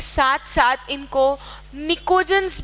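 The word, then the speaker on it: pnictogen: के साथ साथ इनको निकोजन्स भी कहते हैं। निकोजन, P इज साइलेंट।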